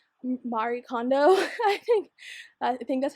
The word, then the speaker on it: Marie Kondo: tidying up my office and kind of like Marie Kondo.